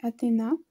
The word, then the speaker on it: Athena: Donc je vous ai aussi tourné la préparation des diamants de ce DP et du DP Athena. Enfin, ça, je le prononce en anglais. En français, c'est Athena.